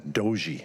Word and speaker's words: Dujie: I practiced your name Dujie a few times, but then right before I came, they said it was Doji.